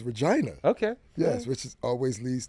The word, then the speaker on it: Regina: That's how they pronounce it? That's what it is. That was Regina. No, it's Regina.